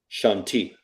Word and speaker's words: Shanti: her name is pronounced Shanti or Shantae? Shanti. Shanti.